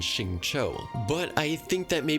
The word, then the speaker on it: Xingqiu: X in them, and they're pronounced with more of an SH sound like Xiao, Jianling, and Xingqiu.